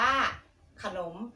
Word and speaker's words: ขนม: พยางค์ หน้า ภาพ อะไร เอ่ย ขนม อ่าน ว่า ขนม กระจก ออก เสียง ขาด อ่ะ กึ่ง เสียง พยางค์